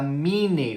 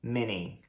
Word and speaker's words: Minnie: o Mickey e a Minnie, ou seja, a gente não fala Mickey e Minnie, a gente fala Mickey, Mickey e Minnie, Minnie. Então é Mickey Mouse e Minnie Mouse. Mickey Mouse, Minnie Mouse.